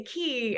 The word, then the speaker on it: Quay: forces and started uh key entertainment which is spelled qua y like qu would